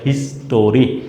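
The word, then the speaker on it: history: এবার আসো দেখো, according to দ্য হিস্ট্রি women in the past war. দেখো কি বলতেছে, অ্যাকর্ডিং টু দ্য হিস্ট্রি। এটা অনেকেই প্রোনাউন্সিয়েশন ভুল করে, বলে হিস্টোরি।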